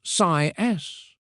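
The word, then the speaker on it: Siaes: Our very first checkout dive was at CAS Corner, pronounced SIS.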